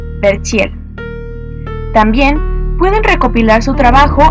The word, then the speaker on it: Verchiel: su página oficial Len Verchiel, La Voz del Arte. Len se escribe L-E-N. Verchiel se escribe con V-C-H. Verchiel.